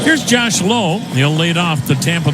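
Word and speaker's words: Lowe: guys in their lineup they spell their last name the same lwe one is pronounced low the other is pronounced loud that pitch outside the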